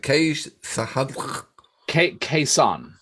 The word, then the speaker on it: Khe Sanh: Well, it's Cold Chisel, and I never heard of them, know nothing about it, and the track is, how do you pronounce it? Khe Sanh.